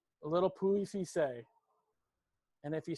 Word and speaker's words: Pouilly-Fuissé: You don't pronounce the L's, a little Pouilly-Fuissé. And if you say it very dainty-like, it just rolls off your tongue. Pouilly-Fuissé.